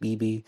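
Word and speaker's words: Beebea: to us from bb that's b-e-e-b-e-a i think that's pronounced bb have you ever thought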